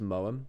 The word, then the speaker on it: Moham: Moham, the way that I pronounce it is Moam. It's very, very English, it is. But, it reminds me a bit of Mawam, the sweets.